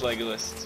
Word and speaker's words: Legolas: I'm pretty sure that's Legolas. How you'd say my name. Anyway, it's Legolas, but alright.